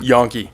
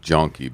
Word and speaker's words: Janke: say your last name Adam yonke yon not not jonky Jank it happens